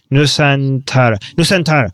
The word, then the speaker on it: Nusantara: Nusantara, something like that? Yeah, go ahead. Nusantara.